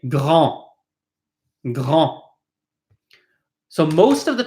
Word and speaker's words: grand: Grand, petit, long. Big, small, slow. You'll notice all these final consonants are not pronounced. This is not grande, but grand. We do not pronounce the D.